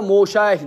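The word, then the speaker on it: מָשִׁיחַ: Mesih az yine harflerini doğru telaffuz kısayız. Uyem Moşayih boladı. Tepesi yem Mesih boladı. Biz ham İmam Mahdi'ni kütemiz aslida.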